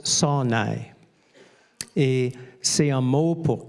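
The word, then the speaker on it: שׂוֹנֵא: Le mot en hébreu prononce sonai.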